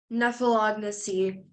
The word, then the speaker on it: nephelognosy: Nephelognacy. Could I have the part of speech, please? It's a noun. Nephelognacy. Are there any alternate pronunciations? It's just the one, nephelognacy. Nephelognacy.